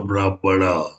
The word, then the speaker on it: Brahmana: It is pronounced as either Brahman or Brahmana. Both are right.